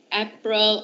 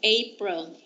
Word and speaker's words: April: so much next April it's not a Perl or up real it's April okay next me me June